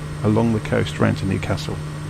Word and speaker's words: Newcastle: The local people of the area will look down their nose at you if you call it Newcastle. That's a very much a southerner way of pronouncing the name. It's Newcastle. The stress is on the second part. and it's an A, not an R.